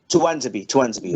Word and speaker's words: Tuanzebe: You've got, is it Tunanza? Is that how you pronounce his name? Tunanzabi, or however you say it? Tuanzebe.